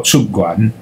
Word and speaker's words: 屈原: 那屈原的屈，汉朝以前读音是出，出元哈，屈原读作出元，读书人读作出元，但是北回音两字出元，这就是上古汉语有边读边的特色。